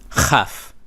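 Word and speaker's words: כף: Chaf. Just like how you're coughing up phlegm.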